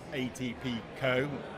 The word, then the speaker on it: ATPCO: Chris Phillips who's the chief commercial officer at atpco that's how you say it um and it's